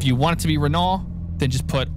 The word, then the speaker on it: Renault: If there's a T in there, we will pronounce the T. Okay? It's Renault in American. Okay. It may be Reno or Reno, whatever you